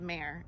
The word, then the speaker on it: Mar: Because I was so upset that they were getting my name wrong. Names are important. They really are. Wow. I also really like being called Mare, M-A-R.